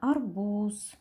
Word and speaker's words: арбуз: это слово произносим арбуз поставим знак ударения арбуз ударение падает на второй слог и теперь дадим характеристику